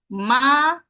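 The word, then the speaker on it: maakit: jump into number six your pronunciation for number six is maret marit another time marit mhm let's see what we're working with M kit looking good Perfection good I don't see anything other than m a a k i t nicely done okay so we can just go ahead and tick off that one Perfect all sounds accounted for we start with the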